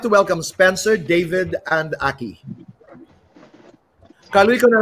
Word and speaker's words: David: How do I pronounce that? David po, Tito Boy.